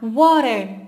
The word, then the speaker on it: water: usar mora o water as duas pronúncias estão corretas nas no inglês americano eles costumam trocar o pé pelo R então sempre vai ficar Warner Warner uma Beautiful Day